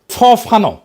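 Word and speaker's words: Fanon: ফরাসি আলজেরিয়ান চিন্তাবিদ ফানো ফানো নাম আসল উচ্চারণটা উনি বলছিলেন পরাধীন জাতিগোষ্ঠী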